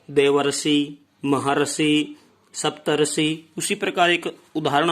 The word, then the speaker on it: महर्षि: अर का उच्चारण यहाँ पर होता है, न कि रे का। देवर्षि, महर्षि, सप्तर्षि।